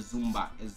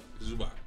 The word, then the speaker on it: Zubac: With Kawhi and Zumba. How do you say his name? Zubac? Zubac, yeah.